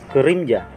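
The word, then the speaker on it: 그림자: Ito po yung K, ang bigkas kapag nasa unahan. Silalim po ng K, yung E, E. Ang bigkas po nito na guhit sa ilalim ng K, parang yung U sound sa word na busy.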